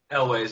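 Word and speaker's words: Elwes: Is that how you pronounce his last name? Elways? Elways, yeah.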